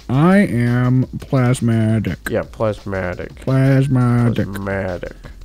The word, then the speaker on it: Plasmatic: am plasmatic yeah plasmatic plasmatic because a lot of people apparently are confusing how you say it and it's plaid yes definitely plasmatic not plasma dick I mean why would